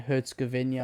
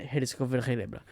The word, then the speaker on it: Herzegovina: Bosnia and Herzegovina.